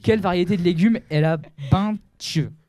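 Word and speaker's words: Bintje: adulte national géographique quelle variété de légumes la Binch B n t la Binch c'est hyper facile mais je savais pas moi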